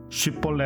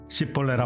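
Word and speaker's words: 쉽볼렛: 에브라임 사람들을 색출해 내었는데 쉽 볼레 라 발음하면 통과 10 벌레가 발음하면 에브라임 사람의 특이해 사투리 발음 이 나오기 때문에 하나하나씩 다 골라냅니다 그리고 그들을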